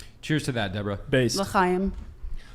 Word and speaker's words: L'chaim: L'chaim. L'chaim, Deborah. Good pronunciation.